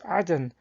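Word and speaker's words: عدن: For example, in Quran 98:8, the term Eden is pronounced as Aden in the Arabic.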